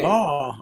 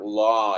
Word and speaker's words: law: Yeah, now pay attention to the pronunciation of the word law again. It's a long word. It's not a short word. So you don't say law. You have to say law, right?